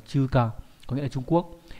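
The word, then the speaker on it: 中華: Chữ Hán là chữ Trung với chữ Hoa nhé, đọc là chuka, có nghĩa là Trung Quốc.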